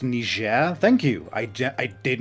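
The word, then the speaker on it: Niger: It's pronounced Nishair.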